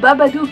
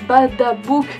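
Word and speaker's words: Babadook: vu ma critique il il s'agit de Mister babadou et non pas badabou comme je l'ai dit tout le long de ma critique je suis absolument désolé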